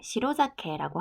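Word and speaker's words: 白酒: 자, 그래서 이날에는 떡과 흰술, 희고 걸쭉한 단술을 시로자케라고 하는데 시로, 희다라는 뜻이 있고 원래 술, 사케인데 시로 뒤에 이제 위치하면서 발음이 자케로 됐죠.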